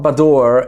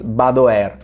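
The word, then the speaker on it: Badoer: look about the air no it's not bador it's not bad however it's badware Venetian people may kill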